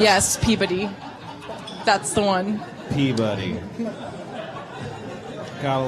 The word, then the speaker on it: Peabody: It's spelled Peebuddy is how it sounds. Yes, Peabody.